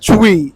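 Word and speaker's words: Twi: the way you pronounce it? Chui.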